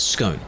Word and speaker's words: scone: It's scone. Go back. There is a big war over it, yes. The way I justify it, scone, is because it's cone, it's not con.